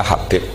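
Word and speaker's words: حبيب: Itu di harokatnya kitab itu ada yang nulis Hubab. Tapi yang benar, oh enggak, yang benar itu bacanya Habib.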